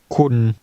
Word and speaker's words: คุณ: คุณเข้าใจครับ คุณ คุณ คุณเข้าใจ คุณเข้าใจครับ What part of that means you? คุณ The word for you is pronounced with an even mid-level tone.